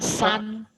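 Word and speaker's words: 三: 1, shan, Not shan, san.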